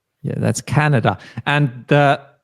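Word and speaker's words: Kanada: and then another a bit tricky one to pronounce it is Canada Canada yeah that's Canada and the pronunciation of the letter a or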